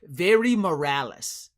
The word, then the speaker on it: Vadi Morales: If you want to say it like the English way, Very Morales, who used to do AEW Dark with us, looks like Juventud Guerrero. Vadi Morales. Yeah, Very Morales is what people say on when they don't know